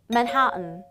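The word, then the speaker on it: Manhattan: 이상하게 하고 싶지 않나요 정확한 발음은 manan manan입니다 뭔가가 내가 알던 도시가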